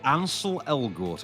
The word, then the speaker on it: Ansel Elgort: Ansel Elgort, I believe, is the pronunciation, yes.